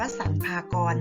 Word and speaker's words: สรรพากร: สอบ นะ คะ 1 กรม สัมภากร อ่าน ว่า สรรพากร นะ คะ รับ ผิด ชอบ ใน